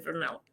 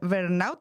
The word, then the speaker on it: burnout: Esa es básicamente como la historia, digamos, del burnout.